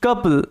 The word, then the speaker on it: couple: আছে the foolish কাপল এখানে একটা জিনিস বোঝার চেষ্টা করো এখানে ও ইউ এর উচ্চারণটা আউ সাউন্ড না হয়ে আ সাউন্ড হচ্ছে এখানে কি সাউন্ড হচ্ছে আ সাউন্ড হচ্ছে সাধারণত আমাদের কিন্তু ও ইউ আউ সাউন্ড দেয় যেমন সাউন্ড এস ও ইউ এন ডি এটা উচ্চারণ কি করি সাউন্ড এখানে ও ইউর আউ সাউন্ড দেয় কিন্তু এখানে আ সাউন্ড দিচ্ছে এটাই কিন্তু general general sound oh your এটা ব্যতিক্রমের আন্ডারে পড়ে একটু মনে রাখবে এখানে